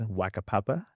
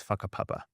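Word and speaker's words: whakapapa: Um there's a Mai concept which is called faka papa. It's when you read it, it's waka papa. Yeah. But it's pronounced as faka papa.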